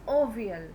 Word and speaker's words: avial: He named it Avial. That is pronounced as ovial.